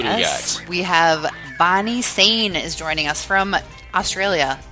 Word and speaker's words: Sein: We have Bonnie Sane is joining us from Australia.